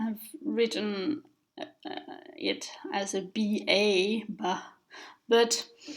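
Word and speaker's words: བ: Anyway, in general, this letter is pronounced ba.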